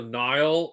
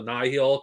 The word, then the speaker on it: Nihil: Like the Nihil or the Nile, whatever, depending on who fucking pronounces in the audiobook. I'm just calling them the Nihil because I consider that the official pronunciation for them.